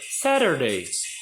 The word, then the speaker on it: Saturday: Saturday, ou eu posso dizer no inglês total americano, Saturday.